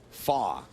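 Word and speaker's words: Fach: attention to the Conant it's pronounced Graham fa he's of German descent Canadian from gal Ontario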